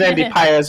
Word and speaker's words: Pages: Let's not forget about Andy Paez, a.k.a. Andy Pages. Is Andy Paez for the correct pronunciation there.